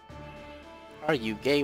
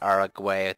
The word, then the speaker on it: Araguay: how it goes are you gay woods it's pronounced Eric way oh that's okay alright